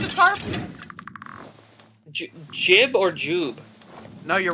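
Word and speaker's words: Jiub: Jib or Jube? No, you're right. Jib. That's the way he pronounces it in Dawnguard.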